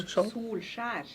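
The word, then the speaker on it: Solskjær: How do you pronounce his name? Solskjaer.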